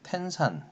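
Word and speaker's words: 天山: 뭐 고비사막 그리고 천산삼매 텐산 천산이라고 써요 텐산 산맥 그다음에 뭐 중국을 강남과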